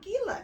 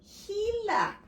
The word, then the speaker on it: Gila: Gila is a Spanish word and it's pronounced, it's not Gila. It starts with a G, but it's called Gila.